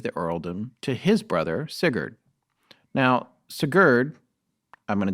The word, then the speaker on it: Sigurd: is my favorite too it's not canute the great no not canoed but uh sigurd the mighty yes i'm saying it right he was the first